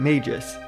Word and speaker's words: Magus: untold story revolving around magus there are a few pronunciations of magus with another common one being Magis but I've always gone with Magus hopefully that's not too